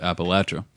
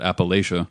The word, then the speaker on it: Appalachia: the natives there have always and still do pronounce it Appalachia okay but um every outsider that comes in mmm pronounces it Appalachia because they're idiots and it's the quickest way